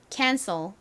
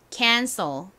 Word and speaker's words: cancel: 요렇게 들어가게 됩니다 자 그리고 cel에서 2의 소리가 확 줄어들어서 쌀 소리가 아니라 쏘 소리가 난다라고 말씀드렸죠 연결해보면 발음 따라해 보세요 cancel 한 번 더 해볼게요 cancel 좋습니다 한국식으로는 보통 캔슬 이렇게 적지 않고 캔슬이라고 적는 경우가 많습니다 캔슬은 무슨 의미일까요 바로